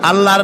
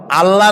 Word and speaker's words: আল্লাহ: আল্লাহর নাম আল্লাহ, বলেন তো। আল্লাহ নয়, কিন্তু আল্লাহ হচ্ছে অশুদ্ধ, শুদ্ধ হচ্ছে আল্লাহ। বলার সময় মুখটা গোল হয়ে যাবে।